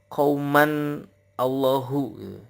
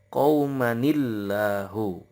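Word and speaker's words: قَوْمًا ٱللَّهُ: Jangan sampai dibaca qauman Allahu. Yang benar cara bacanya adalah qaumanillahu.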